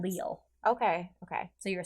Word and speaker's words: Lille: It's Lille. Okay. So you were saying it right. I wasn't. Oh, I was saying Lily.